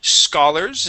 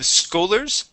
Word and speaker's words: scholars: right let's go to the word Scholars instead of schoolers SCA Scholars Scholars uhhuh